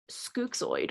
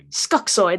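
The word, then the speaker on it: Skuxxoid: you said before you played the character of scookzoid or skuxword i can't remember how you say his name skuxoy that's it um so you were cast to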